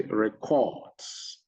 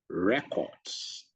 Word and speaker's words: records: When I say records, the stress is on the RE. But what I mean when I meant to say is records, the stress is on the CORTS, the last part of the word. So the word record, see, it sounds, it has two syllables, re and cord, cord.